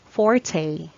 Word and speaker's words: forte: wants a strong point next pronunciation is simply fourth fourth you use this pronunciation if you mean the part of sword or foil blade that is between the middle and uphill and that is the strongest part of the blade the strongest part of the blade its fort let's have the next